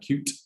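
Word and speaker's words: Kyoot: So you've got brands here like Cute, which is spelled K-Y-O-O-T, which could be the most Gen Z spelling of all time.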